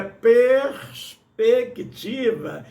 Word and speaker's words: perspectiva: Tem um R e um S ali, a gente fala perspectiva, né? E a palavra, a pronúncia correta é perspectiva, e ninguém fala assim, então vamos lá.